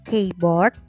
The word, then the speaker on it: keyboard: Tulisannya keyboard, tapi ya bacanya keyboard ya, teman-teman.